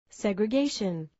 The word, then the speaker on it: segregation: Notice which syllable has the main stress in these words. Segregation.